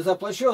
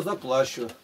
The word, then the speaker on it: заплачу: Ну, может, если на второе ударение сделать. Не заплачу, а заплачу. Понимаешь, сразу как смысл-то меняется от ударения.